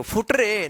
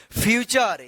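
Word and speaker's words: future: थे ना रूल में एफ यू टी यू टी यू आर ई। क्या पढ़ेंगे इसको? फुटरे नहीं फ्यूचर। यानी आर ई से पहले टी यू रहता है। तो इस टी यू का उच्चारण क्या होगा? च होगा। ठीक है?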